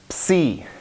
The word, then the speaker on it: psi: Psi, psi, psychology, right? So, psi.